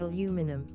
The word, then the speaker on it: aluminum: wasn't really anything but I'm just so used to saying it like aluminum mhm both date to the early 19th century stemming from the word alumina aluminum became preferred in the United States and Canada while aluminium became favorite throughout the rest of the english- speaking World interesting I mean as